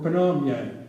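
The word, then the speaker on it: Pyongyang: pingyang an Asian name it's actually Korean for panyang but Americans didn't know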